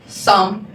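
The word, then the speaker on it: psalm: अब देखिए इसी वर्ड में आपका पी साइलेंट है और एल भी साइलेंट है। तो अब रिमेंस लेटर क्या बच गया? एस ए एम। तो right pronunciation will be what? सम don't you take its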